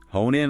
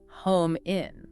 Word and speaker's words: hone in: Hone in on.